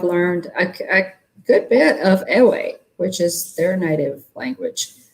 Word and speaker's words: Ewe: But Ewe is the native language. It's EWE is how that's spelled.